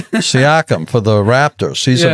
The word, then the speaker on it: Siakam: Sakanam or Saikim, or how do you pronounce his name? Pascal Siakam. Siakam for the Raptors.